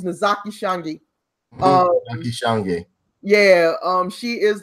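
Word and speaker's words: Ntozake Shange: Notazake Shange. I can't even pronounce her name. Her name is Nozaki Shange.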